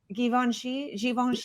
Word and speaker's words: Givenchy: Givenchy, okay.